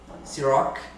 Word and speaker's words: Cîroc: Ciroc, o Rzinho da França.